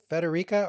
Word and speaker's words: Federica: And Federica, first of all, Federica or? Oh, both works. You're pronouncing it perfectly, Okay.